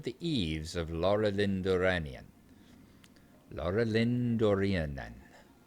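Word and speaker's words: Laurelindórenan: Laura Lindoran. Laurel Lindorinan.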